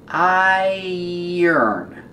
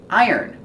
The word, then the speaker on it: iron: an iron remember pronunciation I yearn it has the ear sound like tire and Fire and dryer iron this is an iron